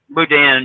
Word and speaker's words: boudin: Is it Boudin? Boudin, yeah. Boudin.